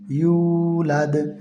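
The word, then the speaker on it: يولد: এই ওয়াওর পরে সাকিন বা জজম এবং ডাইনের হরফের পরে যদি পেশ থাকে, তখন ওই জায়গায় আপনার এক আলিফ টেনে পড়তে হবে।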